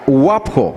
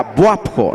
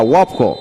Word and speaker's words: Wapo: la wapo ese por nos cuesta pronunciarlo la wapo con la u como que quisiéramos decir la buapo No ese no existe Ese es la wapo cuál es el siguiente